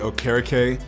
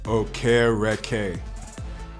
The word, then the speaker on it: Okereke: proof I don't want to go Bobby o'kara Kay it is pronounced okay red k I would say uh smart humble and driven